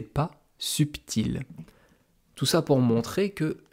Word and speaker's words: subtil: Par exemple, le mot subtil, subtil, il y a un B au milieu. On l'entend d'ailleurs, subtil, subtil. Eh bien avant, on disait subtil. On ne disait pas subtil.